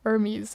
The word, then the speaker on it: Hermes: Hermes. Okay. So, like the Greek god, but just the the H is less pronounced.